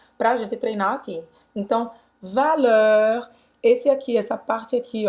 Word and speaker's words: valeur: Então, valeur, esse aqui, essa parte aqui, ó, a pronúncia vai ser...